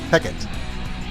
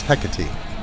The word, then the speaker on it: Hecate: Shakespeare referred to this Greek goddess as Hecate. But I'm going to follow Fozzie's lead on this, and I am going with the classical pronunciation, which is Hecate.